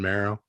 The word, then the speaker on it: Mero: How do you pronounce it, Steph? Deuces and Mero.